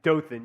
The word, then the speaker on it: Dothan: Dora Scottsboro Alabama Dothan is it pronounced it's Dothan yeah it's kind of like I guess I'm trying to rhide with bothan it's like kind of